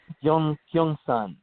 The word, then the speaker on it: Gyeongsan: Gyeongsan.